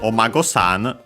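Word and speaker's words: お孫さん: And yeah, Mago, accent on the last syllable on its own, while Omago-san, as you can see here, also straight up with the honorific prefix here, unaccented.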